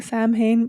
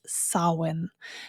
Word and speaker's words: Samhain: And so as with so many Celtic words, they're pronounced differently than our English words would be pronounced. And so in this case, it is Samhain.